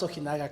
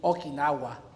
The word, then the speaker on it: Ojinaga: unlike the Mexican president, Enrique Peña Nieto, you pronounced Ojinaga correctly. Oh. Well, I got help, because I asked. When he went to Ojinaga, he said, I am so glad to be in Okinawa.